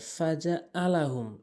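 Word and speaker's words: فجعلهم: এরপরে ফাজআলাহুম ফাজা আলাহুম, অনেকেই ফাজা আলাহুম বলে, ফাজা আলাহুম হবে না, ভুল উচ্চারণ।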